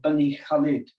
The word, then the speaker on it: Bani Khalid: mountain and down into another wadi called bani khalid that's how they pronounce it and uh it's only